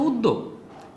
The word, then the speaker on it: উদ্যোগ: হসন্তর এই বিষয়টা বুঝলাম উদ্যোগ দেখ আমি ঠোট দিয়ে উচ্চারণ করতেছি আর লিখি আমি যখন বলছি উদ তাইলে হসন্ত আসবে যদি বলতাম উদযদি উদ বলতাম এখানে যদি উচ্চ থাকতো কিংবা যদি এখানে উকার দিতাম উদ তাইলে আমি দিতে পারতাম অসন্ত রাখতাম কিন্তু এটা উদগ না এটা হচ্ছে উদ্যোগ তাইলে এইজন্য হবে উদ